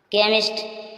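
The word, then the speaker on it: chemist: का उच्चारण चा हुआ केमिस्ट दवा बेचने वाला अब यहां चाबी आया है तब भी इसका उच्चारण का हो रहा है केमिस्ट दवा बेचने वाला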